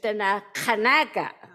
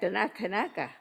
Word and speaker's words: Denakkanaaga: And this word, Denakkanaaga, like everybody say Denakkanaaga, the way we say that is Denakkanaaga. This is our correct way of saying this word. But everybody else knows the word like Denakkanaaga.